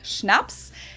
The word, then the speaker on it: Schnaps: alcohol culture in German we spell it like this and say schnaps and it means hard